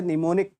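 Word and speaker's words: mnemonic: जैसे निमोनिक आपसे बहुत पूछा जाता है। है ना? तो निमोनिक कुछ किस तरीके से लिखोगे आप? एम साइलेंट होता है।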